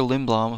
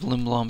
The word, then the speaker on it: Lindblom: earlier out brought up Oscar Lindblom who are in the bloom I think is how you're supposed to pronounce it he was called